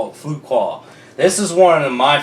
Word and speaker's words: Fuqua: You butchered it in the last video. Can't say his name. Antoine Fuqua. Fuqua.